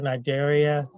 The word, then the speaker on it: cnidaria: Porifera, cnidaria, the sea is silent.